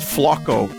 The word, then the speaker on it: Flaco: I heard it's pronounced Flocko. You gotta say it like Bill Burr.